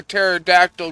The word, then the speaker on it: pterodactyl: Why can't you hear a pterodactyl going to the bathroom? Because the P is silent.